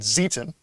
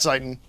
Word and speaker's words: Zieten: Not Zeiten, Zieten. That's how they pronounce it. Yes, because basically the trick in German is that if the E follows the I, it's E. If the I follows the E, it's I in the pronunciation.